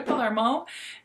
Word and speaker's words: Palermo: go back with my olivia palermo is it palermo i feel like i'm always saying her name wrong yes olivia palermo and she released three lipstick shades i picked